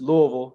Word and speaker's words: Louisville: Yeah, so I gotta correct you. It's Louisville. You gotta say it like with your mouth full of food, man.